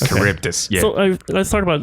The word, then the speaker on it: Charybdis: It's hard to pronounce. Yeah. Charybdis. Okay. Charybdis, yeah.